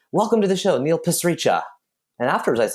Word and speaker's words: Pasricha: Like I always say, Neil Pasricha. It's like passing a salt shaker, reaching for it, and then relaxing afterwards.